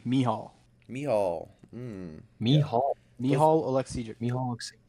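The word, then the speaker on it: Michał: I will say, Quinn, I think you might have pronounced his first name wrong. You said Michael. Michael? Is it Michelle? I've heard Michelle? it might be Mihal.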